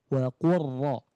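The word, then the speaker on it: قُلْ رَبِّ: Nah, ini dibaca dengan langsung merebur ke huruf ro tanpa ada bunyi lam yang tertinggal. langsung pure ke huruf ro wa quro seperti itu.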